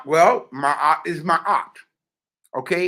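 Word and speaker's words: maat: story family our fair our story is do my art and live do my art and live are you getting this again what is my art well my is my op okay it's an it's a committed term it's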